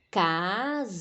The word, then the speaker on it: casamento: Casamento. Casamento. É o men.